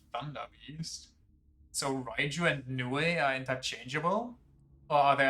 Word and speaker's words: Nioh: Pronounced Nioh.